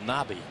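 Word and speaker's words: Knabe: We found out that that second baseman's name is pronounced Nobby.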